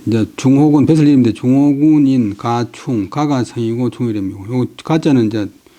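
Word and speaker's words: 賈充: 그때 이제 중호군 배설 이름데 중호군인 가충 가가 성이고 충이고요 가짜는 이제 본래는 안전 장사 고구 그다음에 사람 성이나 고민살 때는 발음을 가구 갑할 때도 바람을 가구 갑자 그래서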